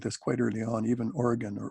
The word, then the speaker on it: Origen: Even Origen, or Origen, depending on how you pronounce his name, felt that there was no way that Hebrews was written by Paul.